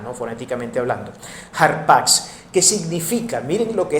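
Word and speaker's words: ἅρπαξ: Pero la palabra rapaz viene del término griego harpatx, termina así en X, se pronuncia como una X al final, ¿no? Foronéticamente hablando. Harpax, que significa.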